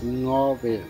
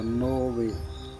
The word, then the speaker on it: Ngäbe: Escuchen bien cómo se pronuncia ngobe, no se pronuncia nobe.